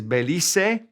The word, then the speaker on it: Belice: Belize is Belice, and they are Beliceño, Beliceño.